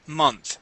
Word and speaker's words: month: it is month after month try that that please month after month month after month okay get that n in there m month month okay month there you